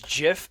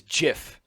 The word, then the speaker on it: GIF: the okay it is Jiff I don't care what anyone says it is pronounced like the goddamn peanut butter it is Jiff it's not gift but the Creator itself